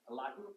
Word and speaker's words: Elihu: Yeah, I think the thing that was always fascinating to me was how Elihu, however you pronounce his name. Elihu, thank you.